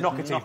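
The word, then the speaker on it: Naughtie: It's pronounced Nocatey, but it's spelled Naughty.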